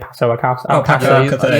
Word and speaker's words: Alcácer: They got the ex-Dortmund player in, was it Alcácer? Is that how you say it? Alcácer.